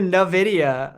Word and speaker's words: Nvidia: hurts me to hear Nvidia um like the letter N in and then video that's it that's all you need yeah in the video